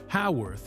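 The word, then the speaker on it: Haworth: R T H, was meant to be pronounced with a short a sound at the beginning, making it sound like Howorth in the proper British fashion that she had grown up with in England.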